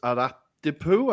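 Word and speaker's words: Aradippou: And when you played in Cyprus for, now I want to get this right, Ermis Aradipu, I think that's how you say it. Aradipu, right? yes.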